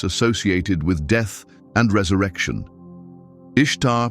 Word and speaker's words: Ishtar: Ishtar pronounced somewhat like Easter was the goddess of love and fertility.